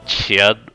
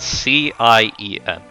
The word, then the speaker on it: Cien: I think I called it the Cien or Chien before. It's spelled C-I-E-N. But yeah, it's called Cien. That's what it's supposed to be.